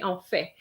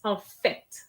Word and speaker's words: en fait: So this is also a problem with some students where they don't pronounce the T with en fait. They say en fait. No, it's en fait.